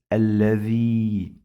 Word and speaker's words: الذي: I pronounce this alladhi, long vowel ya.